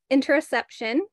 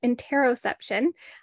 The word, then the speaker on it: interoception: And then there's interoception, or depending on who you ask, it might also be called or pronounced interoception. I might go back and forth between the two because I've learned from professors who pronounced it both ways.